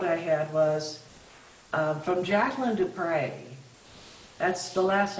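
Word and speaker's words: du Pré: other third quote I had was from Jacqueline to pray that's the last name is spelled EU and then PR e videos are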